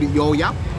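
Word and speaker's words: Gò Vấp: Check out, we are in a suburb called Yo Yap. It's if you spell it out, it's Govap. So if you would pronounce it in Aussie, in English, it's like go vap, but we say Yo Yap.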